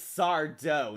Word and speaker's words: Sardo: yeah I do agree it's sard do no Mister Accent on the de basically the twink boy